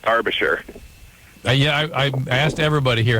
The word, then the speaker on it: Derbyshire: It's actually pronounced Derbyshire.